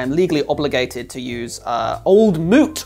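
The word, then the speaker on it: Old Mout: legally obligated to use old Moot rhymes with fruit because it has scrumpy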